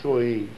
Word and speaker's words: Samhain: Alguns falam Samhain, outros mais, se pronuncia, pelo que eu aprendi, o Deus Soen.